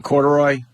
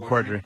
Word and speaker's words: Corddry: Corduroy? Rob Corddry. Corddry? I always say Corduroy.